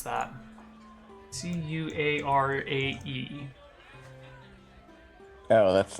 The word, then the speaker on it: Curare: Cuarae. Oh, that's like deadly poison, right? It'll incapacitate or debilitate somebody. I think I spelled it wrong on this sheet. Curare? Curare, yeah.